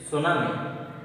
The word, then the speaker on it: tsunami: Here, T we should not pronounce. Tsunami. Here, this is tsunami. But T is there. You should not pronounce. That is T tsunami. That is tsunami only. We have to pronounce this tsunami.